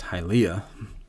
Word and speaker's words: Hylea: So yeah, first of all, it's pronounced Hylea. I was putting the emphasis on the wrong one.